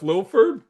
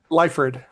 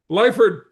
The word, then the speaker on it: Liford: Uh my guest today is Jeff Lilford. Did I pronounce it right? I should have probably asked you beforehand. How do you pronounce your last name? Liford. Liford, perfect.